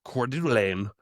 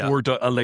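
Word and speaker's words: Coeur d'Alene: Whenever I say cordain, it's like cord ala, you know, and so I I spell it core c o r e d u h du lane delay l e l a n e.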